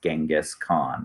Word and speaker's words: Genghis Khan: will become known as Genghis Khan I believe the alternate pronunciation you here is Jenga sook on the British documentarians prefer jenga's so there can be some